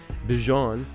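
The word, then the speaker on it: Bijan: Bjon.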